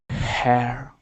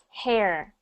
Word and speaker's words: her: better good next one her her but when you when you say that sometimes when you're reading it sounds kind of like hair it sounds kind of